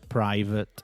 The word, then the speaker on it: private: So for example, we've all seen the word private. Okay, it's spelled P R I V A T E.